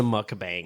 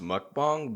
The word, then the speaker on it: mukbang: I've Yeah, I think it's pronounced mukbang, but I could be very.